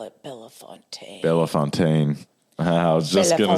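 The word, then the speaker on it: Bellefontaine: Um like where I'm at, we call it Logan County near Bell Fountain, Ohio, which there's a Bell Fountain, Indiana, but you guys call it Bellafonte. Bella Fontaine.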